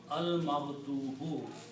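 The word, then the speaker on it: الْمَغْضُوبُ: And when we put al, we remove one dhamma, so it becomes al-maghdubu. Al-maghdubu means the one who received the anger. The one you were angry upon. Maghdub.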